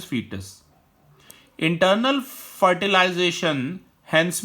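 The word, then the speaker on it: fetus: The correct pronunciation is फीटस।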